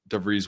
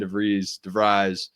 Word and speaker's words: DeVries: That's how I kind of see Connor Enright, kind of a guy that can come in, slow it down, knows exactly what DeVries wants to have happen.